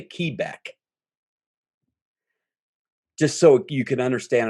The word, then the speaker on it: Quebec: And, you know, Q is Quebec, but we say Quebec.